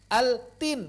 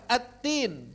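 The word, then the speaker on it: التين: Altin enggak ada qalqalah tuh. Adanya hamz dia ta. Tapi diidghamkan attin karena saking dekatnya makhraji. Begitu.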